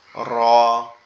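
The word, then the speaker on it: ر: আর র এর উচ্চারণটা কোথা থেকে হবে, র এর উচ্চারণ আমাদের জিহ্বার উল্টা পিঠ, মানে এই অংশটা জিহ্বার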